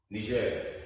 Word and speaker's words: Niger: Then we have Nigeria, the country with the largest economic area in Africa. Big country, very big country. Chad is the top here. Niger, Chad. So people pronounce it as Niger, people pronounce it as Niger.